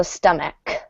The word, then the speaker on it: stomach: great uh one note this CH is going to be pronounced like a k so stomach um some words which